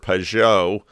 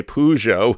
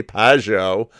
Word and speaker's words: Pageau: um and i know i've butchered pejo or i don't want to say peugeot which is the french auto company pageo jonathan say his name